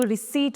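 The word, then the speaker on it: receipt: इसमें piece silent होता है। तो इसको रिसीप्ट बोला जाता है।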